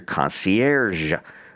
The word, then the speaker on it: concierge: And this is where your concierge lives. I was told I didn't say concier right because they don't pronounce the G in French, but whatever.